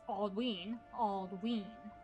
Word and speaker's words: Aldwin: Aldwin is pronounced Aldween, right? Aldween, because of the long vowel sound on the Y.